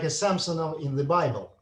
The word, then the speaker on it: Samson: it pronounced? Samson.